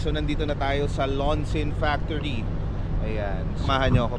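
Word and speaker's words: Loncin: So nandito na tayo sa Lonsin Factory. Ayan. samahan niyo ako. Pasok tayo. So nandito tayo ngayon sa Chong Ching China. Ah particularly dito sa Long Chin Factory. Launchin daw yung ano nila pronunciation.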